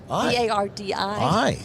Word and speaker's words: Bardi: to you and says, Bardi, B-A-R-D-Y-I. B-A-R-D-I. Yeah. See, I even got it wrong. But when people hear me say, what did he say her name was? Bardi. Like Okay? Bacardi.